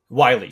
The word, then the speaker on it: Wiley: I know Teague Willie, is that his, how you pronounce his last name? Yeah, Wiley. Wiley, sorry. Teague Wiley, he's obviously, you know, had an amazing under 19 World Cup.